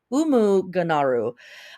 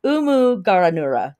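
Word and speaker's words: Umuganura: have the Festival of umu garu uh excuse me I think I mispronounced that let me try this again umu gura there we go uh this is a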